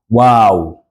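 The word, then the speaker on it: واو: we call W as as if you're wondering some you're wondering about something so say wow wow wow then we have what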